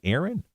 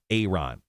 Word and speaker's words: Ayron: That's how you say his name, too. It's just not Ayron Jones. We got corrected, like right when he first came out. Is it Aaron? Ayron.